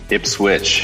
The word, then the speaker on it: Ipswich: of is it ipsit ipswitch you do pronounce the W yes ifp switch Massachusetts